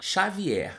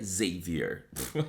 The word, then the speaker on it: Xavier: Whitney, que se chama Xavier. Mas assim, sabendo que é um livro em inglês, a pronúncia correta seria Xavier. Mas eu não vou falar Xavier, eu vou falar Xavier.